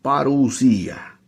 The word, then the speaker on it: parusía: código 39 52 y ahí está la pronunciación parusía que significa advenimiento venida